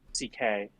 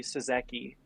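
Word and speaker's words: Székely: He just he he wrote CK because his name is pronounced CK. Oh. And everyone was mispronouncing it. They would go like Louis Suzeki.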